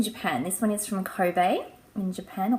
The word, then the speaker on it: Kobe: got this in Japan this one is from Kobe in Japan or Corbett I say it properly which was the closest